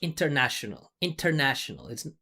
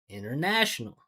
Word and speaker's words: international: I hear this so much. International. That doesn't make it easy to understand for American. It's international.